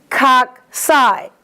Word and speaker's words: cocci: It's coccus, k for singular, cocci, k-s for plural.